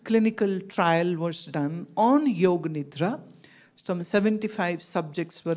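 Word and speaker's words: योग: So the one solution which I suggest is called Yoga Nidra. Y-O-G-A, yoga. In English, many people say it yoga, but in Sanskrit it's yog. Y-O-G, so A is actually not pronounced.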